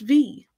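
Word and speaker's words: bhí: A good example of this is the verb V. BHI for the V, was. And doesn't matter which dialect, it's always going to be pronounced V.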